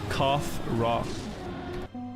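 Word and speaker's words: Khafre: raw in antiquity like rah the sun god cough rah but in English you say kafra some people say kafra if they want to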